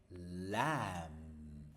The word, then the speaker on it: lamb: Moon, lamp, lamb. Exactly, no b. Lamb.